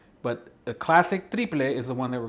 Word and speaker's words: triple: it's written exactly the same way but it's pronounced triple so a triplet can be made in a